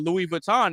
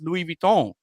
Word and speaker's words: Louis Vuitton: We all know we all know what Louis Vuitton is, but they don't know that it's Louis Vuitton.